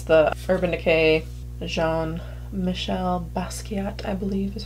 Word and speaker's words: Basquiat: It's the Urban Decay Jean-Michel Basquiat, I believe is how you say it, palette.